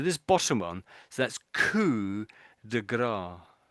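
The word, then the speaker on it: coup de grâce: yeah, maybe it's like this is all sort of French. So the de is up, French for yes. of, isn't it? So this bottom one, so that's coup de grace, coup de grace, I should say, Coupe coup de de grace.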